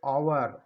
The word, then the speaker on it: hour: एन आवर, आवर का spelling HOUR। एच मैंने underline किया, मॉनिटर पे देखें, यहाँ पे स्क्रीन पे देखें। एच जो है ये हमें, या तो आप कह सकते हैं कि ये साइलेंट है, या कह सकते हैं कि ये साउंड जो दे रहा है वॉवेल साउंड दे रहा है।